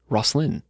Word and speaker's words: Rosslyn: me a little video telling me how to pronounce that and i'm hoping that i uh got it right rosslyn anyway uh let's get to those templar legends